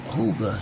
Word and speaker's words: hygge: "It's Danish, pronounced hygge," she said. "Means something like coziness, but more so soft, like sitting by a fire, sipping wine in the winter.